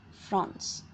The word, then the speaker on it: Franz: This story is narrated by a boy named Franz. It actually means a boy's name. It's just like how we pronounce France.